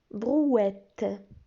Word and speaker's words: brouette: Alors, une brouette. Une brouette. E, T, T, E se prononce et.